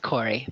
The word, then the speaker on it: Corri: Is there a pronunciation difference between these two words, Corri and Cory? What is Corri? How would you pronounce that? I would say both, Corey, but there is a reason for it.